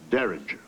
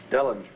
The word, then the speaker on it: Dellinger: is offered only with respect to the defendant Derringer. I think Your Honor means Dellinger. Dellinger, that's right. Mr. Dillinger said we must issue a...